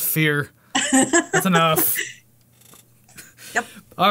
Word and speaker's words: Fier: But they recorded in a haunted house, and they had a guy, Alan Fear was his name? Yeah, so it's Stop. Anton Fier. It's F-I-E-R. It doesn't matter. It's pronounced Fear.